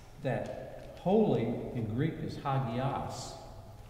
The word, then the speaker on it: hagios: We know that holy in Greek is hagios. I call it hagios, but my professor would die if he heard me say that. Hagios, he would say. You mispronounced it.